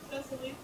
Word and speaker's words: Cecily: How do you pronounce Cecily? Cecily.